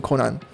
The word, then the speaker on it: Conan: a very different vibe from conan or konan i guess i should say the japanese pronunciation konan but man conan is